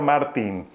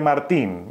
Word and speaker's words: Martín: Miren ustedes que a veces digo Martín y a veces Martín porque me cuesta un poco nombrarlo al español con su correcta pronunciación. Él es Sandor Martín, pero a veces a nosotros los que vivimos de este lado el Martín se nos va a Martín.